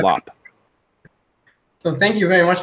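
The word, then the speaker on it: Llop: His last name is spelled L-L-O-P, which I imagine might be Yop or okay. Lop.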